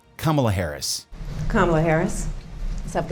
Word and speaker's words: Kamala: Primeiro vamos ouvir como ela pronuncia o próprio nome. Ela fala Kamala Harris, não Kamala, Kamala Harris.